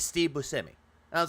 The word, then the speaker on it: Buscemi: And he said, it's Steve Buscemi.